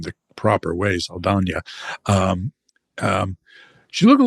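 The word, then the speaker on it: Saldaña: Zoe Sana uh is, and I'll try to pronounce her name the proper way, Sana.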